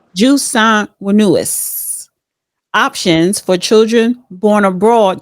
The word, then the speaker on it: jus sanguinis: Well, it says current law in the United States features, how you pronounce it again? Jus sanguinis. Jus sanguinis options for children born abroad to U.S.